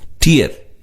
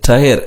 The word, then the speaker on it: tier: இச்சொல்லை tier கண்ணீர் என்ற சொல்லை போலவே உச்சரிக்க வேண்டும். பலர் இதை டயர் என்ற சொல்லை போல உச்சரிக்கிறார்கள். இது தவறு.